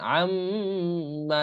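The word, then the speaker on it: عَمَّ: আর নাকের বাসি থেকে উচ্চারণ হচ্ছে, দেখেন আম্মা, এই যে আম, এটা নাকের বাসি থেকে।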